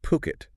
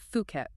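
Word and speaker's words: Phuket: It's pronounced Puket. P O K E T. Mhm. Definitely Puket, not Fuket.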